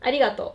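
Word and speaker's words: ありがとう: It's arigato? Arigato. Arigato. Arigato. Arigato. Do I pronounce it correctly? Yes, arigato. Arigato. Arigato. Arigato. Like kind of like a more soft because Japanese don't talk in that way.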